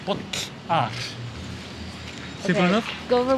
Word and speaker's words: bolla: And then you have the weird X. And like, it's like the pops. And it's basically like this. And then you say bollar.